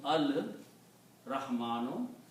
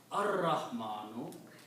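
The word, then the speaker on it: الرحمن: So al-Rahmanu, because when you combine, one Dhamma goes away, so it becomes al-Rahmanu. Again, this Ra is a Shamsi letter, so you pronounce ar-Rahmanu.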